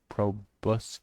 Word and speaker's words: proboscis: Foam Fiend, High Soft Ass / Quivers, Foam Proboscis. Proboscis? I don't know how to pronounce it.